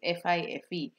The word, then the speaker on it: Fife: um in a in a place called fifa i think that's why you pronounce it fife but it is not